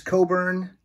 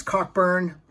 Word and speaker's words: Cockburn: me Neil Young and Bruce Coburn I like to pronounce Cockburn and currently Mike Sieg